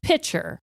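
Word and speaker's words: Picher: he sees this water tower and it says piter so p i c h e r is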